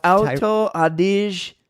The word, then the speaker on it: Alto Adige: It's pronounced Alto Adige, South Tyrol.